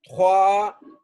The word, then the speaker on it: trois: द थ्वा थ्वा, ये are gain की sound देगा ना, थ्वा। एस साइलेंट है, थ्वा।